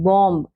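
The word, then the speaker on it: bomb: letter B ठीक है तो हम इसको बम बोलेंगे बम लेकिन यहां पर हमने बीच का जो साउंड है वह नहीं देना है इसको नहीं देना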